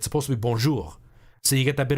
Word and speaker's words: bonjour: canadian speakers that say bonjour but you're not supposed to pronounce the r that way and i was saying that from my understanding it's supposed to be bonjour so you get that